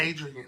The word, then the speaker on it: Adria: How you pronounce it? Adrian.